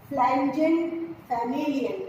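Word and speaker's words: Pflanzenfamilien: इसका पुस्तक का नाम है DIE, डाई नेचुरलाइकन फ्लैंजन फैमिलियन, P साइलेंट है, डाई नेचुरलाइकन फ्लैंजन फैमिलियन।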